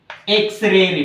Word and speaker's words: X-ray: So an MLA, an MP, an MBBS doctor, an MBBS doctor, an X-ray report, Here the starting letter is X. It gives the pronunciation of A, an X-ray report, an MA degree, Okay, these are the uses of article an.